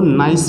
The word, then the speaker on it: gneiss: English में जब आप लोग इसको लिखोगे तो ये होगा आप लोगों का बंगाल, ठीक है, स्पेलिंग होती है GNEISS, तो जी साइलेंट हो जाएगा यहाँ पे को, ठीक।